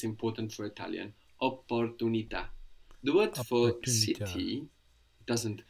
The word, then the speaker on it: opportunità: And I think you tried to pronounce, I think you did pronounce the double P there, no? opportunità. So we have a double P there, even though that doesn't make a lot of difference to us in English, it's important for Italian.